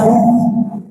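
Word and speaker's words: هو: Lam kedua diambil bacanya hu, dia.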